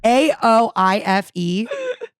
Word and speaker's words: Aoife: AOIFE. AOIFE. And that is pronounced Aoife.